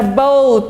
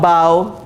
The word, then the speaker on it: bow: It is a bow tie. Not bow, bow.